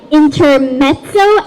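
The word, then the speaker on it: intermezzo: sound we need to when we see two Z's together a lot of us might think the pronunciation is just the but in fact in a lot of different sounds it's uh it's so we have examples like pizza inter mezzo and mozzarella what do you notice when you pronounce these words you have this it's sound that's your clue to know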